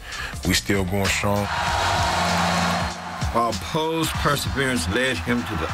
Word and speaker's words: Powe: Leon Powe, or Poe, excuse me for mispronouncing his name.